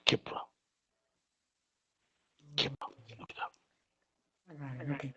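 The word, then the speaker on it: Khepri: It's Kipra. Kipra. Look it up. Okay, Kipra. Spell it.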